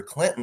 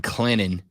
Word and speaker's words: Clinton: pronounce the T in Clinton. I I try my best. I try my best. And I know the saying is the T is silent but sweet.